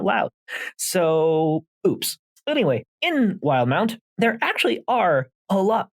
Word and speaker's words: Wildemount: actually today found out is pronounced wild mount and not wildemount so that's a whoops